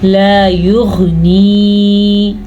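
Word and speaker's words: لا يغني: لا یغنی, الف مدہ ہے اور غین کے تلفظ کا بھی خاص خیال رکھنا ہے.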